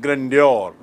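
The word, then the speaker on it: grandeur: उच्चारण देखिए, ग्रैंड से बना है ग्रैंडियर, ग्रैंड मतलब विशाल, वैभवशाली, और ग्रैंडियर मतलब वैभव।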